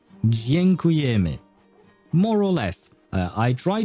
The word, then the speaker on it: Dziękujemy: And how do you pronounce it? Dziękujemy. I think that's how you say it. Dziękujemy.